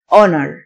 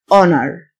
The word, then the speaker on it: honor: physical مكافأة reward reward honor الH silent honor جزاء أو عقوبة penalty